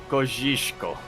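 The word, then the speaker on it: Kosciuszko: I'm pretty sure it's pronounced Mount Kojishko. Okay.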